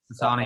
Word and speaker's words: Asana: Asana, yeah.